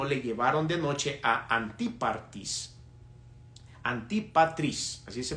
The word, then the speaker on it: Antipatris: Y los soldados, tomando a Pablo como se les ordenó, le llevaron de noche a Antipatris, así se pronuncia esta ciudad.